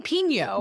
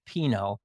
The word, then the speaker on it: Pinot: Oh, I've seen Pino. No, it's like not Spanish. It's not a Mexican restaurant like jalapeno. It's Pinot. And it's named after Chem's grandfather.